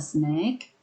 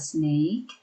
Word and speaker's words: snack: Hati-hati eat a snack, jangan membacanya eat a snake karena nanti menjadi makan ular.